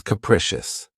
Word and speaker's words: capricious: of my favorites, is capricious. This word has three syllables and the stress is on the second syllable. Keep in mind that the first syllable has that schwa sound krecious. Capricious.